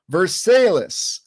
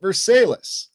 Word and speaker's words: Versailles: There's also Versailles, Missouri, obviously named after Versailles, spelled the same way, but on the ground you call it Versailles.